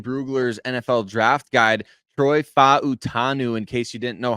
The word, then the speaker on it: Fautanu: thanks to Dane Bugler's NFL draft guide Troy fautanu in case you didn't know how to pronounce his name I certainly didn't before reading